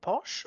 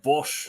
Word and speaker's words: Bosch: So is his name Posh or Bosch? Bosch.